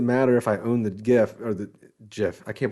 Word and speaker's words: GIF: That's GIF for me because that's just. I remember when I like that soft G. It's more sensual. GIF. GIF. Yeah, that's the only correct one.